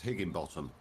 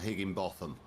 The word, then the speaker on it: Higginbotham: see some weird and that's pronounced Higginbotham not Higginbotham b-o-t-h-a-m is bottom yeah okay he can